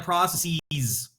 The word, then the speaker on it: processes: You should be summarizing the processes. That's how you pronounce that, people, not processes.